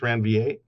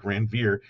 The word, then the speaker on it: Ranvier: the nodes of ranvier i think they're pronounced rand va i like ranveer sounds more like something out of a tolkien novel right the writers of